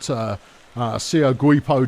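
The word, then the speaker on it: Seogwipo: There's a lot of rubbish there because you've got Sio Guipo downtown. Pronounced that way, that's official.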